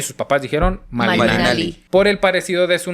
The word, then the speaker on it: Malina: Los castellanos le llamarían de ahora en adelante Marina, pero por cuestiones fonéticas de las lenguas prehispánicas, donde no se pronunciaba la r entre los indígenas y ella misma al presentarse pronunciaban malina.